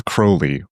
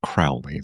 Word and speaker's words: Crowley: Remember, it's Crowley rhymes with holy, not Crowley. That rhymes with foully.